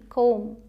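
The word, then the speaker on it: comb: एम बी अगर साथ में आता है मतलब पहले एम आए फिर बी आए तो इसे हम म ही बोलते हैं। बी यहां पर साइलेंट होता है। ये चुप रहता है। बिल्कुल जैसे सी ओ एम बी कोम यहां पर बी नहीं बोलते।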